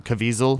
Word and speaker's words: Caviezel: zero Jim Caviezel movies really am I even pronouncing his name Caviezel yes you know that he was in talks